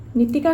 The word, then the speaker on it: Nitika: তেল আমা presence feel করে এটা নিতিকা আমি প্রোনাউন্স কেনে করি নিতিকা আমি নিতিকা তে প্রনাউন্স করি নিতিকা নিতিকা এনে